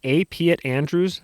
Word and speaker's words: A. Piatt Andrew: I think this guy's name is pronounced A. Piatt Andrews. That's A. period space Piatt Andrews, son of a banker.